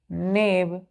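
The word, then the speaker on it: knave: के एन ए भी नेव अब यहां भी क्या है के य साइलेंट है बच्चों प्रोनंसिएशन क्या करेंगे इसका एन ए भी नेव कितने लेटर है टूथ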